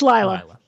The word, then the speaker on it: Lila: Lila and her games I keep pronouncing the name wrong I think is it yeah it's Lila yeah Lila and her games think it's